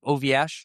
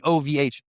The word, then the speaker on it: OVH: So we'd have to be like, "We'll use the French company OVA." Oh, so I pronouncing it ov. Sorry, I'm using a French pronunciation. That's my bad. It's my bad. It's literally OVH.